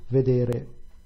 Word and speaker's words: vedere: Vedere, the stress is on the penultimate syllable, which is what you would expect.